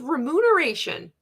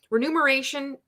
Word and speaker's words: remuneration: I thought it was remuneration why did I switch the m and the N around that's weird renumeration is not based on the coach's sales rather Beachbody intends for a portion of the renumeration it's like finding out